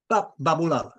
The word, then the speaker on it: Baboolal: Baboolal. Okay. Just like it looks.